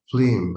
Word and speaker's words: phlegm: Humors of wind, Abel, or phlegm. I think like a how it pronounced?